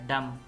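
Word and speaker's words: dumb: Column column, solemn संजीदा, डम ये डम है, इसमें भी बी साइलेंट है, डम, गूंगा, थम अंगूठा, बम बम, पार्क पार्क, पार्ट हिस्सा, पार्टी, पार्टी।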